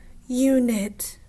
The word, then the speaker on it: unit: So there's 2 syllables. So I'm going to scoop the first one. The first one is what? Unit. The first one is you. So I'm going to scoop that first syllable. And it's saying you. My second syllable is what? Unit. Second syllable is knit.